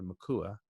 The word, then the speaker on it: Mikuak: My name is, if you're interested, spelled Mikuak. It's a very unusual name. I think it's actually the only one out there that I've never met another Makua with a silent K, but it was a gift.